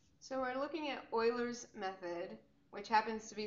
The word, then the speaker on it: Euler: So we're looking at Euler's method, which happens to be 6.1 in the Demana Weights AP Calculus book.